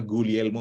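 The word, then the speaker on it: Guglielmo: bernama gulielmo Marconi 1895 bacanya gulielmo Marconi jadi G nya nggak usah dibaca kalau bahasa Itali nah ini kemudian kalau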